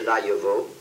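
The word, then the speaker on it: Laillavault: The name is, small, Laillevaux, L-A-I-L-L-A-V-A-U-L-T.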